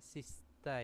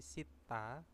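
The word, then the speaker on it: 씻다: terus ada Sitta nah ini bacanya bukan ee Sista ya tapi Sitta Sita yaitu bisa membasuh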